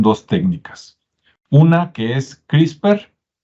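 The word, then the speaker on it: CRISPR: técnicas una que es crisper se escribe CR y spr y se pronuncia crisper Y usted puede investigar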